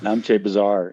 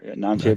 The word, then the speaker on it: Namche: You are literally on the other side of the world there, over in, uh, give me the pronunciation then, Namche, Nepal? Namche Namche.